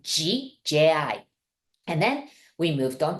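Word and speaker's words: ぢ: with the G right it's de I you may want to pronounce it like Z but we really pronounce it like g j i and then we move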